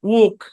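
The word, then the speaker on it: walk: কে উচ্চারণ উচ্চারণ কি এলটা সাইলেন্ট এই শব্দের উচ্চারণ ওক মানে ব্রিটিশে ওক এরকম আর আমেরিকায় আমেরিকান এরকম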